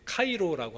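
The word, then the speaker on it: Chi-Rho: x p처럼 되어 있잖아요 p가 R 발음이 나고요 x가 c처럼 발음이 나옵니다 그래서 그리스도 크리스투스의 처음 두 글자를 가지고 문양을 만든게 이거예요 그래서 카이로라고 하는데 저기도 있죠 카이로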